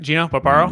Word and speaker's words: Gino Barbaro: I'm going to make sure I pronounce that right? Gino Barbaro?